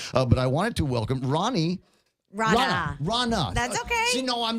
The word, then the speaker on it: Rana: I wanted to welcome Rana. That's okay. See, no, I'm the guy that's been telling everybody for the last couple of days it's pronounced like Ronald Reagan. It's like Donna with an R.